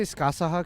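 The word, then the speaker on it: Scáthach: I say Skasaha because that's how they pronounce it in Japan.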